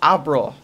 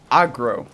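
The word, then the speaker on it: Agro: youtube videos that um it's not pronounced abra it's aggro okay for some reason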